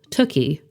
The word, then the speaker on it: Tooky: she always tells people tuie rhymes with cookie comes from Hebrew my